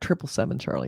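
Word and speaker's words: 777 Charlie: a-listers he was in 7-7 Charlie was at triple seven Charlie is how they say it triple seven centaura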